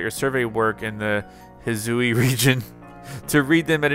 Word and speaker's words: Hisui: I bet it's Hisui. Because the eyes would be pronounced the same.